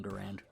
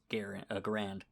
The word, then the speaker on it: Garand: When it went into service, it was called the Garand, even though the guy who invented it was John Garand. Once it went into service, it was more or less repronounced as Garand.